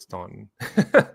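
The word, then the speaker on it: Staunton: a city called Stanton and they call it Stanton yeah we have um Stanton River State Park Stanton River Battlefield State Park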